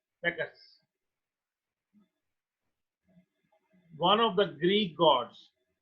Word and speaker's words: Bacchus: One day he was visited by Bacchus, pronounced by Bacchus, Bacchus, one of the Greek gods.